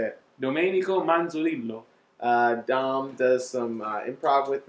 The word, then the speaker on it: Domenico Manzolillo: Cool Sex with special guest Domenico Monzolillo. Nope. No? Said it wrong? No, yep. You said it. Say it. Domenico Manzolillo.